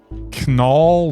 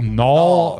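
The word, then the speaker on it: Knull: In this latest chapter, some villain named Canal. Null. Null. I don't know. The K is silent.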